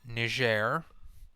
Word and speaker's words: Niger: multi-party elections Bennett along with Burkina Faso and Niger that's how you pronounce that country Niger is home to the